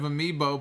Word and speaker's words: amiibo: pop culture references you're not a fan of amiibo but you pronounce it correctly well that's good it's good